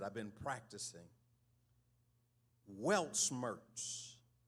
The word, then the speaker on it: Weltschmerz: This word, it's a German word, and I want to pronounce it. I've been practicing. Weltschmerz, spelled W-E-L-T-S-C-H-M-E-R-Z, Weltschmerz.